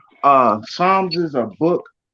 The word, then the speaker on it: Psalms: spelled because is silent the p is silent in Psalms uh Psalms is a book it's